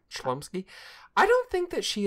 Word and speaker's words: Chlumsky: Chomsky? Oh, there's the L in there. Chlumsky.